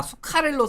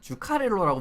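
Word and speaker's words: Zuccarello: 아 수카렐로 선수는 주카렐로라고 불리는 그 선수입니다. 근데 이제 어 뭐냐 어디냐? 노르웨이는 이제지 발음이 그 스 같은 느낌으로 나기 때문에 예 그 스웨덴이랑 마찬가지로 그래서 수카렐로라고 하는 거예요. 말씀을 드리는 겁니다.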